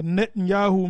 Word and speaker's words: Netanyahu: the right and uh Netanyahu means uh give us give us yahwah na yahwah baman na yahwah that's how you say it all right he says Netanyahu all right um and